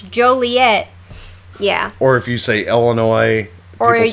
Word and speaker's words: Joliet: have Joliet and how some people call it jelly it and we're like no that's not how you say it's Joliet yeah or if you